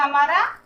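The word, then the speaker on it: hymn: और ये हो गया हमारा हिम। हिम मतलब भजन या स्रोत। यहाँ भी एन का साउंड नहीं है, साइलेंट है।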